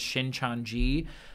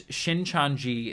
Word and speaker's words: Shincheonji: I believe the pronunciation is Shincheonji.